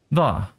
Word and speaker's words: va: The va part is pronounced by biting your lip as you say it. Va. Va.